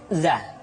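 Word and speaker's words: ظ: berikut ro R selanjutnya huruf Za diucapkan dengan cara ujung lidah kita berada di antara dua gigi seri bagian atas dan bagian bawah menyerupai dengan pengucapan huruf z di dalam huruf latin tetapi ingat huruf Za bersifat aljahr artinya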